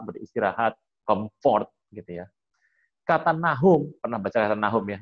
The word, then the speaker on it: Nahum: Kata Nahum dibuat dari 3 huruf. Yang pertama NH dan M. NHM. Ingat ya, orang Ibrani nggak suka pakai huruf vokal ya. Jadi kok bisa bacanya Nahum Pak? Kenapa nggak Nuhum? Kenapa nggak Nuhun? Nuhun ya orang Sunda gitu ya. Kenapa ngomongnya kok Nahum gitu ya? Ya mereka punya tanda baca sendiri gitu.